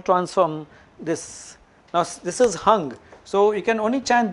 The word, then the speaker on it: Hung: Now, this is hung.